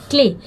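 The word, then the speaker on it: clay: क्ले, सी के बाद एल हो तो हमेशा उसको क पढ़ा जाता है, तो वो क्ले है, तो क्ले, और वाई यहाँ पे देखिए क्ले, वाई यहाँ पे साइलेंट है इसलिए क्ले, ठीक है, तो क्ले बोलो।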